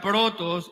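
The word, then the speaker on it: πρῶτος: primero en el griego es una palabra que se pronuncia protos y que significa prioridad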